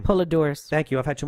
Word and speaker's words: Poledouris: Goldsmith james owner and bass opal I can't pronounce that name poledouris thank you I've had too much one I